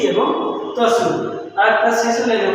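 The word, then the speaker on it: つ: দুইটা হল ব্যতিক্রম যার উচ্চারণ হলো চি এবং তসু আরেকটা শিশু লাইনের উচ্চারণ আমরা পাবো হাি হু তাহলে হাি [সশব্দ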